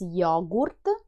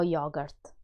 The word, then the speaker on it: yogurt: Note that the Italian pronunciation is different from the English one. It's yogurt, no yogurt.